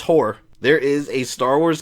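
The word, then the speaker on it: Hoar: sand person called h-o-a-r there's no way that's how you pronounce that it has to be ho-ar war or something like that let's see nope it's horror there is a star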